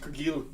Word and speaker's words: Cargill: It's pronounced Cargill.